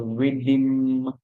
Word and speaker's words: rhythm: and then we hear So we hear rhythm, rhythm. And this morning I was saying that before the song for the M, it sounds like you hear a short I sound the A, you hear rhythm. I always remember when you're spelling that there's no letter that shows or represents that song that you're hearing there, right?